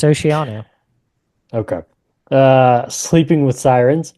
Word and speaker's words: Oceano: Oceano Oceano that's what I said yeah it's Oceano okay uh Sleeping With Sirens hey psych I